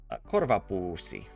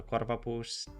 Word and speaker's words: korvapuusti: Would you say it's sort of like the national cinnamon bun of Finland, the korvapuusti? Did I pronounce it? Did I say pussi? I meant to say pusti. Pussi means a bag, by the way.